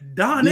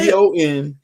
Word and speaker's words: Donnell: Like it's two syllables. It's Donnell. Donnell.